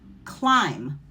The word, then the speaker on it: climb: And when you see that pattern, the B is silent and you're going to pronounce the M sound, like lamb, climb, or thumb.